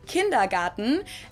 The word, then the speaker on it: Kindergarten: In German, we pronounce it Kindergarten, and it literally means children's garden.